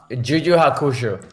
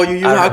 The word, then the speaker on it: Yu Yu Hakusho: Like I remember Juju Hakusho. Oh, Yu Yu Hakusho. I'm pronouncing it right.